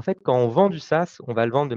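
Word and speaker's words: SaaS: entreprises innovantes vous avez des business model dit SAS donc ça veut dire Software as a service ça s'écrit s AAS S et en fait c'est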